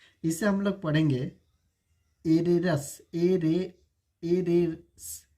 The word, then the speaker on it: heiress: Arrays. Arrays.